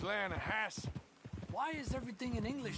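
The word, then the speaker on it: Lannahechee: no no no no no no the the Lana Hatchi it runs right near here yeah but it's pronounced Lana hasp why is everything in English said differently than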